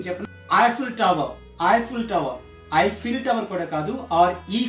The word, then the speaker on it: Eiffel Tower: Eiffel Tower under evil tower so that's not evil tower ii i SS yi l then correct pronunciation Chapel Eiffel Tower Eiffel Tower Eiffel Tower korekado or each filter on teka